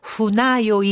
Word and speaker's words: 船酔い: 자, 배라고 할 때는 후네라고 하잖아요. 근데 뱃멀미일 때는 후나요이, 이렇게 후나라고 읽어줍니다.